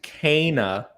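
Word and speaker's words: Kena: I'm glad you liked Kana Bridge of Spirits. That is the appropriate pronunciation.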